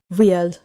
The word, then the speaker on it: 리을: For riel, I should not make an American R. I should tap forward. Dadery, nara. Wandokeyo. Quick tap. Front of the mouth. That is the key for riel here.